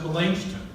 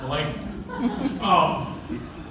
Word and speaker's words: Melanchthon: And this is Luther's very good friend, Philip Melanchthon. Or if you know Germans, they'll pronounce it Melanchthon. They're wrong, because he would have said it like a Greek. It's Melanchthon.